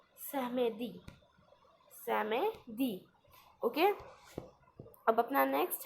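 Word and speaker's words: samedi: Okay, और बोलते हैं सहमेदी.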